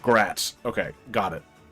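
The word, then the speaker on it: Graz: It's pronounced gratz. Okay, got it. Not the thing I'm the most worried about at the moment. The thing I'm most worried about is this More like gratz.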